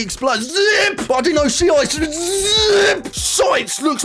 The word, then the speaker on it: Shiite: It was a lovely day in Azerbaijan, and the shites were taking a stroll along the river.